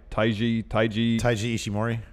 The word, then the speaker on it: Taiji Ishimori: He returned, attacked Will Ospreay, and he is how do you pronounce his name? Taiji Ishimori.